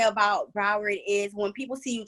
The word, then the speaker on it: Broward: know how you pronounce it how are you pronouncing it broward all right welcome to growing up there man